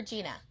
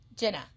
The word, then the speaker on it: Jenna: So Jenna, for me is it Jenna or Gina? Jenna. Oh, thank God I said it right.